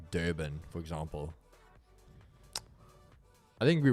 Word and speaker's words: Durban: that are maybe like Durban, for example. I think we will eventually do Durban. Is there any way to say Durban anyway? Other way, like Durban. Durban. It's always like the R is silent.